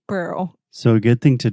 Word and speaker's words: Pearl: I think that I got used to say Pure Bar so much. And you used to correct me so much with pure. And I can't say Pearl.